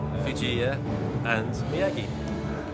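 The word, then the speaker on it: Fujiya & Miyagi: the song and um how is it pronounced fuia and Miagi okay there we go um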